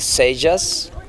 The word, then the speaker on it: Seijas: it yeah i i can get away with sages which is you pronounce it j in english but the the